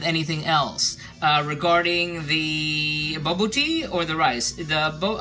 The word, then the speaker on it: bobotie: else uh regarding the bbo tea or the rice the bo um I saw references to the bbo tea that um Botti Botti sorry Accent on the second syllable um said it can